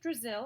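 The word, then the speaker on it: Drazil: Brazil rhymes with Drizzle.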